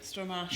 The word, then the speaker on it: Stramash: Is that how you pronounce it? Stramash.